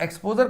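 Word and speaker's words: exposé: अब इसके प्रोनाउंसिएशन में ध्यान दीजिएगा. ये एक्सपोज है, ये एक्सपोजे है. ये एक्सपोज का मतलब होता है वर्ब, ये एक्सपोजे का मतलब होता है नाउन.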